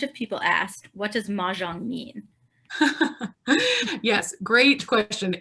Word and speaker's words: Mahjong: But in Shanghainese, which was, again, that was the region where it emerged, it would have been pronounced Mojiang. And that sounds a lot like Mahjong, which is the current Chinese name.